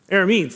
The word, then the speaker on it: Arameans: Arameans. Arameans? Arameans. There we go. Arameans. I kept trying to put other syllables into it.